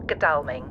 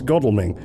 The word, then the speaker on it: Godalming: Godalming? No, silly Sadie, it's Godalming. Your manufacturer in Taiwan or wherever you were made clearly hasn't got to grips with the erratic pronunciation of some of our more eccentric place names.